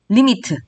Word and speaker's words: lim: 여기서 극한을 뜻하는 lim은 리미트, 극한의 약자입니다. 따라서 기호로 우리는 수학은 기호를 써서 간단하게 나타나는 걸 좋아하니까요. 이렇게 나타내도록 하겠습니다. 리미트. 읽을 때 리미트라고 읽어주세요.